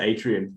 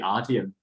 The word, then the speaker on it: Artium: you you pronounced the atrium I think 95% people that see it always say Atrium it's actually artium artium yeah so when